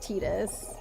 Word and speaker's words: Titus: I think it's very heavily implied that it's pronounced Titus.